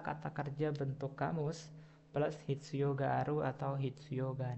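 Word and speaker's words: 必要: Oke, berikutnya nomor 16, ada hitsuyo ga aru atau juga hitsuyo ga nai. Oke, saya berikan cara baca ya.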